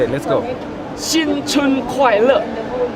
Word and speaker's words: 新春快乐: 新春快乐 1, 2, 3.